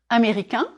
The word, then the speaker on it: américain: And then the adjective, américain or américaine. If you are a man, je suis américain, américain. 4 syllables. Américain. Drop your jaw on the final nasal sound.